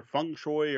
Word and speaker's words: Feng Shui: board games tonight is feng shui or Fung Shui or however you want to pronounce it I'm just gonna go with thanks we and yes I know that's the Americanized pronunciation by Robin Delos a